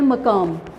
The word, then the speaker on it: مقام: سے پہلا لفظ ہے مقام، میم کے اوپر زبر، کاف کے اوپر بھی زبر اور پھر میم کے اوپر جزم، مقام۔ دوسرا لفظ ہے مسافت،